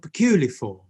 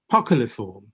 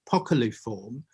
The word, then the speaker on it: poculiform: And this is called peculiform, or poculiform, I should say it properly, poculiform.